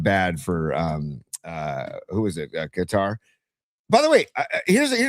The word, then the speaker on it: Qatar: So I do think that's what's going on with Qatar is that it's just people say Qatar, but I'm pretty sure it's actually pronounced Qatar.